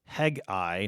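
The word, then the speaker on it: Hegai: the the leadership of hegi not Hagi the prophet but hegi the the unic the there's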